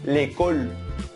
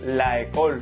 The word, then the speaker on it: l'école: Y se pronuncia l'école. No se puede escribir ni pronunciar la école, sino que se quita la A y se suprime, se coloca una apóstrofe y se dice l'école.